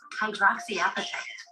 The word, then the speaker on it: hydroxyapatite: Second, this novel toothpaste also incorporates, as a polishing agent, hydroxyapatite.